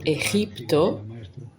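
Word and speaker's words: Egipto: So eipto e g i p t o even that p and that t they have an effect on astral doubling. So we do want to try and pronounce it correctly.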